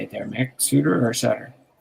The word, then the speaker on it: Bruce Sutter: Sutter or Sutter? Suter.